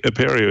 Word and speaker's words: Apereo: I think Apereo is the right way to pronounce it.